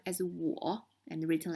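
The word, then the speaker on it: 我: this meaning you again i on me is pronounced as war and written like this ta the pronunciation for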